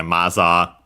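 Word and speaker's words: マザー: which is z uh so yeah maza yeah so simply mother from in English uh accented on the first syllable. So yeah, just like in English mother and so maza maza. So yeah, high only the ma and then everything else low.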